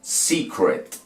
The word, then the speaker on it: secret: La primera termina en E, es vocal, antes se pronuncia en inglés, sí. La otra termina en consonante, ¿cierto? Entonces la vocal que la antecede, o sea la E, se pronuncia como se pronuncia en ¿qué? En español. Secret.